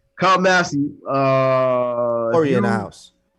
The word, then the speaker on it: Kyle Massey: stuff first we got kyle massey that's how you say his name kyle massey uh hurry in the